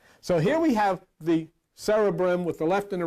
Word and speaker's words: cerebrum: What's interesting, in the cerebrum, it's not the cerebrum, it's cerebrum, that's the way it's pronounced.